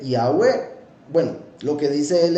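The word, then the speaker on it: Yahweh: él mismo era judío Pero deja una pista para que se entienda Cómo se pronuncia Y dice yahwe Bueno lo que dice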